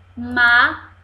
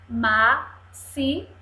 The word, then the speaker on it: máximo: o som de s o x está com som de s máximo máximo máximo um X está aí mas você fala o som do s ó e aqui eu sou